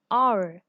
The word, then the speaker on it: hour: Now always use an, not a, before words beginning with H when the H is not pronounced, or you can say that H is pronounced silently. So consider an honest, an hour.